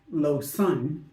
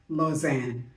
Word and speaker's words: Lausanne: When I said Lausanne was pronounced Lausanne, it's actually pronounced Lausanne, as in Lausanne.